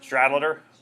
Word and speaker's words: Stradlater: Stradlater? Stradlater.